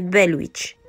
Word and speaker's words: Bell Witch: prononciation ni de quiproquo ce n'est pas Blair Witch mais belwitch une vraie histoire de